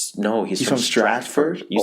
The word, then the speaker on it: Stratford: you said it wrong last time he's from Stamford no he's from Stratford you said it wrong last time I listened